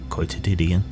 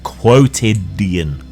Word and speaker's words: quotidian: and clever, even though I mispronounced quotedian. Quotedian. Quotidian. There we go.